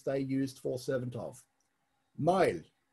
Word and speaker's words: Mael: Mael, M-A-E-L in Old Irish, M-A-O-L in Modern Irish, same pronunciation, originally meant shaved.